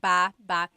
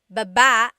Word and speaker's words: baba: So depending on how you're saying it, it could be baba, chin, baba. Emphasis is on the first syllable. Baba. Then there's babba. Ba ba. Emphasis is on the second syllable syllable. That means to go down.